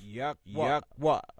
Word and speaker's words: Yahweh: What they entitled the Tetragrammaton. Which we pronounce Yahweh.